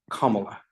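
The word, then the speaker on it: Kamala: 2018 and she says my first name is pronounced comma like the punctuation mark it means lots of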